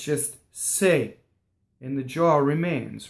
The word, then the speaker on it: se: So E in Italian is a non-phonetic vowel, so it can be pronounced two different ways. And in this case, it happens to be A, like hey is for horses, or I say, right?